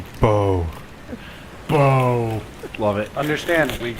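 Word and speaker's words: Beau: Bo.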